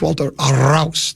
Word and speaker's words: Walter Rouse: And by the way, tell me if it pronounced wrong. It's Walter Rouse.